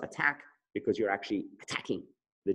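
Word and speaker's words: ATAC: attack seek is pronounced attack because you're actually attacking the genome ok some people say a tag the time to but attack is how it was originally intended to be pronounced everybody with me so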